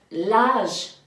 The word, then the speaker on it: âge: gagner, Alors, A-G-E, donc l'âge, parce qu'il y a un petit accent circonflexe, l'âge.